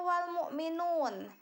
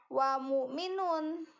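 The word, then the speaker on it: وَالْمُؤْمِنُونَ: seperti itu yang kedua wal-mu'minun wall ya disana ada awal ya walisana itu harus dibaca jelas huruf alif lam al-islamiyah harus dibaca jelas karena di sana hukumnya adalah Alif Lam Qomariah Jadi bukan dibacanya WA mu Minun Nah bukan tapi di sana adalah karena alif lam nya tanpa tasjid itu dibacanya jelas ya yang kedua yang ketiga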